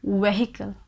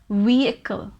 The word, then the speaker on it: vehicle: it's a wrong pronunciation we cannot pronounce it as vehicle that's wrong it's vehicle vehicle this h is literally silent here consider there is no h here okay we do not pronounce this h it is vehicle vehicle number six is southern